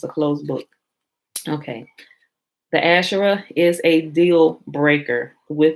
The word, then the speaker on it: Asher: So that will be ASR, would be Aleph Shin Resh, and they pronounce it as Asher.